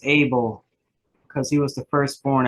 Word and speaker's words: Abel: lot about Abigail abadale that's probably not how you pronounce his name either it's able because he was the